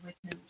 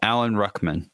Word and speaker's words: Rickman: It's Alan Rickman. Because this person above him says Alan Ruckman, and that is not right.